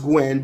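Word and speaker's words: Guion: Gwyn is it's pronounced Gwen, but it's spelled Gu U I O N.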